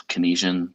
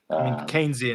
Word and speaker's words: Keynesian: dis-incentivizes productivity versus the what is this kinesian about processes is that right keynesian is how you pronounce it but that tends